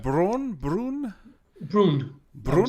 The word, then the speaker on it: Bruun: Braun. Is that the Brune. You can say it how you how like, should I pronounce Braun? Brun? Brune, I would Brun?